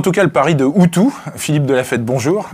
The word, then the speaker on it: OOTOO: utilisaient c'est en tout cas le Paris de outu Philippe de la fête bonjour bonjour vous êtes